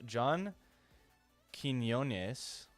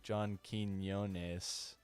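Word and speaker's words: Quiñones: Using hidden cameras, host John Quinones observes and comments on how ordinary people behave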